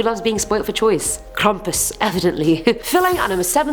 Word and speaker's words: Krampus: year rude I'm eight we have Krampus that's how the German pronunciation was saying it on Google you guys so I'm